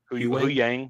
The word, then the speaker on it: Huyang: And I like how the great thing I like about that with God, I always forget how to pronounce him. Huyang? Huyang, yeah.